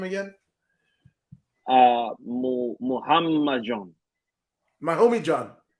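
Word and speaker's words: Muhammadjon: Wait, so pronounce Naimov's first name again? Muhammad John.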